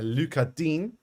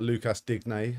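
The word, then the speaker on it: Lucas Digne: minute assisted by a luchadine which is i believe how you pronounce his name not lucas dignay as some people might call it um jack harrison yellow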